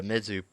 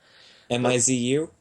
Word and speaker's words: Mizzou: there's a whole thing the mizzou process or mizzy i don't really i pronounce it mi zu yeah mi ZZ e you basically a college